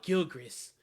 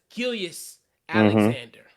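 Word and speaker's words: Gilgeous-Alexander: i don't know why i call it gilgris but it's gillius alexander so those you know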